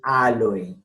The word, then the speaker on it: Aloe: Entonces, se marca la diéresis en la O para indicar al lector y hablante que esa vocal en esta palabra sí suena.